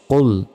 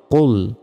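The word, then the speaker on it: قُلْ: আহাদ কফ লাম পেশ কুল এখানে মোটাভাবে উচ্চারণ হবে কুল আমরা অনেকে বলি কুল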